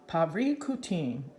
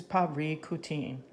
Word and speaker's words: Parícutin: we pronounce that again let's look pronunciation paprika teen so this word is paprika teen after a year Perico